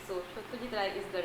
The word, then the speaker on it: Satyajit Ray: I have to say Satyajit Ray. I will not pronounce it as Satyajit Ray because being a Bong, it is our just duty to pronounce it right. So Satyajit Ray is the right pronunciation, and I love to read books.